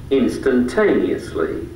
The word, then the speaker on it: instantaneously: Now, instantaneously is tricky because it's a long word. How many syllables? Instantaneously. 5. 5 syllables. Instantaneously. 6. Yeah. Which one is the strong part, the strong syllable? Instantaneously.